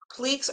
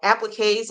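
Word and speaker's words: appliqué: at it maybe if I just did like pleaks or appliques I always say it wrong wrong appliques and just put a whole bunch into like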